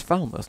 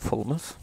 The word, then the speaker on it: Falmouth: you come from fullness it's Falmouth not fullness oh look at now